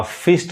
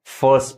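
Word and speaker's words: first: आई आर एस टी अ फिस्ट नहीं कहेंगे फर्स्ट पढ़ेंगे फर्स्ट यहां प भी देखिए आर नहीं पढ़ाता है ये फर्स्ट पढ़ाए आर नहीं पड़ आएगा जैसे देखिए फर्स्ट आर साइलेंट है मैक्सिमम क् होता क्या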